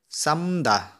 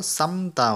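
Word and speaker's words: 삶다: जस्तै साम्दा नभएर साम्ता भन्छ साथीहरू, यसलाई साम्दा पनि भन्छन् मान्छेहरूले, तर यसलाई पढ्दाखेरि साम्ता भनेर पढ्नु होला।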